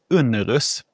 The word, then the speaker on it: Unnerus: varit onsdags med Johan Unnerus. Uttalar man det så? Unnerus. Absolut. Trevlig person.